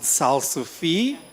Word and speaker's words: Salsify: So, we like to pronounce it Salsify. It's named after the root vegetable.